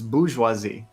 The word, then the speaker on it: bourgeoisie: It's bourgeoisie. That R is not pronounced.